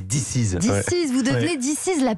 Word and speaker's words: Disiz: Diziz, il faut bien prononcer Diziz.